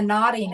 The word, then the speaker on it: Knotting: But another project I have is called The Nodding Hour, and it's spelled KNOTTING.